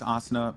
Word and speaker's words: Asuna: is immortals coming out on top asana though Asuna how do you say his name can we get an official you were casting my kid okay no no no it's asana puckett because it comes from an anime called